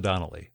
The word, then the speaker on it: Donnelly: e l ly so liod Donnell just like it sounds in fact you ought